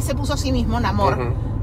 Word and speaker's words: Namor: puso a sí mismo, Namor, pero así es como lo pueden pronunciar, o sea, como si tú lo ves escrito y tu idioma original es inglés, es Namor.